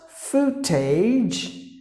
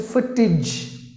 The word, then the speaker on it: footage: the next word is not food tej just because there are two O's you can't just say food tej it's the shot sound just imagine them there's like just one oh okay so footage if you're a person